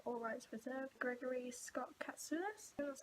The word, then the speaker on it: Katsoulis: Reading All Rights Reserved, Gregory Scott Katsoulis, that's how you pronounce it.